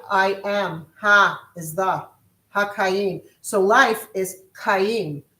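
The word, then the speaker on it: חיים: Haim. Haim. Okay. It's c h a y i am. Ha is the haim.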